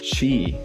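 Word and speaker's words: 死: we have checked out what is pronounced she so that means uh death in Japanese language um I thought I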